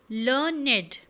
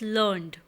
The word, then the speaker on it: learned: So the usual pronunciation of this old-fashioned word would be learned with 2 syllables.